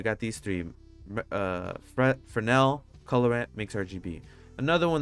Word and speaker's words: Fresnel: input for now or fresnel it's for now uh but it's fun to pronounce the s because i mean why not why not go do that so uh add bernell